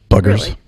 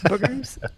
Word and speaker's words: bugger: What would the Brits say? Booger. I don't know. Not really. No. We'd say, you bugger. There you go. Bugger. Yes.